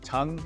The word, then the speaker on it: TUNG: discount if you use the code tongue it's spelled t u n so go ahead and